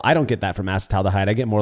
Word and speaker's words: acetaldehyde: First, learn how to say it. Learn the right way. I say acetaldehyde.